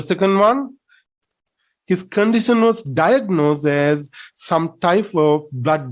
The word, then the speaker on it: diagnose: make a pronounced diagnosis we hear that people tend to mispronounce making noise we don't say diagnose no it's wrong we say we have to say that one diagnose diagnose say it correctly diagnose the first syllable is stressed so you know what